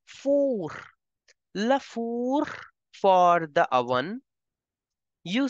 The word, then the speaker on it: four: in French as Laur don't pronounce it like English it is not four in French you pronounce it as for Laur for the oven